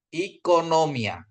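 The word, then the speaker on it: οἰκονομία: Kalau omikron ketemu iota dia bacanya I ya. Jadi bacanya ekonomi ya. Ekonomia ya. Jadi kalau dalam apa itu kalau nggak ada strike-nya seperti ini, dia bacanya halus dia ya.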